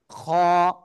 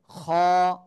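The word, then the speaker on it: خ: হ্যাঁ, ওকে, এই যে উপরে একটা নোক্তা যদি হয় তাহলে সেটা হবে খ। সেটা কি হবে? খ। গলার শেষ ভাগ থেকে খ অক্ষরটা উচ্চারণ হবে মোটা আওয়াজে একালিফ টেনে, ঠিক আছে?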